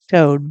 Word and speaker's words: Tod: It's more like toad when you ask Google how to say it. It sounds more like toad, but you know, that's the German part of it.